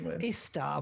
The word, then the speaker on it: I.S.T.A.R.: with what is istar which i definitely pronounce as i star that's that's not 100 percent or anything like that yeah i think i pronounce it i start i think because that's how patrick did it in the in the one shot but it doesn't matter